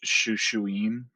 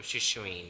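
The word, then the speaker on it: Shūshūin: wasn't also uh didn't Adurna say that it would be more likely pronounced Shushuin? Oh, Shushuin, that's right.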